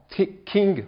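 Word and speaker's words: 經: King, bon, ça s'écrit J-I-N-G, ça c'est du pinyin, c'est la transcription phonétique.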